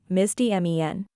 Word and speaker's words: misdemean: to do with a misdemeanor? The two sound similar, but their meanings are very different. Let's clear the confusion today. The word misdemean is pronounced mis-di-MEEN.